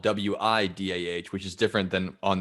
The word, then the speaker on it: Whydah: town is spelled o-u-i-d-a but it's pronounced the same way wida so it sounds like